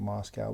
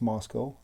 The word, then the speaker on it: Moscow: my whole life and I've always called it Moscow but I was corrected by people who live there it's Moscow and I will I will respect that and and I'm I'm sure that's the way it's pronounced I was just mispronouncing